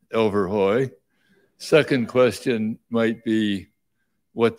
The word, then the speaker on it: Elverhoj: many have is well how do you pronounce overhoy so it's pronounced overhoy second question might be what does that word